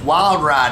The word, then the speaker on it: Wylde Ryde: let me say this wild ride is spelled with wise and not eyes it's w-y-l-d-r-y-d-e check us out on